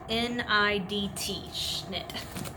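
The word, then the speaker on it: Schnidt: Okay, the way you spell it is S-C-H-N-I-D-T, Schnitt.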